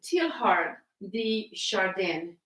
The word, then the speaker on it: Teilhard de Chardin: This is by, I think it's pronounced Teilhard de Chardin.